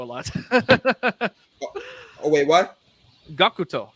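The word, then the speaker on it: Gackt: Dwango phone service featuring Gact, Gakuto. who is a known musician. Sorry, within the I theme- like Gakuto a lot. Oh wait, what? Gakuto is how it's said.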